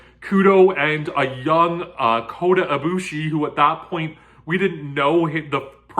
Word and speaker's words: Ibushi: But KUDO and a young Kota Ibushi, who at that point we didn't know the proper pronunciation of his name. We didn't know if it was Ibushi, Kota Ibushi, Ifushi with an F.